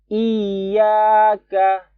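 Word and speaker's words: إياك: Iyaka. Nah, di sini tekan ya-nya karena tasdid. Iyaka. Terus ya-nya cuma 2 harokat, teman-teman. Jangan sampai dipanjangkan karena kepengen kedengarannya bagus atau nadanya bagus.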